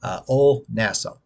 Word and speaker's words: Old Nassau: one called Old Nassau, Ol as in OLE, kind of like if you know the college Ole Miss, they spell it OLE, Ol, not old, Ol Nassau.